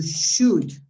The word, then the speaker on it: should: was it somebody else the combination of those letters is pronounced would could should of most uh auxiliaries